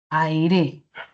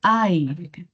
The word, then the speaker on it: aire: Si es que la mayor fuerza de voz estuviese en la última sílaba, la palabra sonaría algo así como aire, aire. Si la mayor fuerza de voz no está al final, sino está en esta sílaba, entonces la palabra sería aire. Ya no sería aire, sino sería aire.